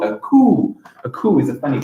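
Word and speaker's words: coup: sorts it's called a cool a cool is a funny color it's a french word really looks like coop doesn't it it's pronounced asylum p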